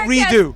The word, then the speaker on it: Redux: say redo.